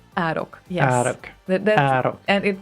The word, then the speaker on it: Arok: How do you pronounce Arok? Oh, Arok. Arok. It's Arok.